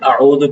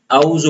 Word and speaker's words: اعوذ: تو بعض لوگ عین کو واضح نہیں کرتے اعوذ پڑھ لیتے اعوذ. تو سب سے پہلے یہاں پہ ہم غلطی کرتے ہیں اعوذ اعوذ. تو عین کا صحیح تلفظ یہ عین کا جو صحیح تلفظ ہے وہ حلق ہے. وسط حلق یعنی حلق کے درمیانی حصے سے عین ادا ہوتا ہے.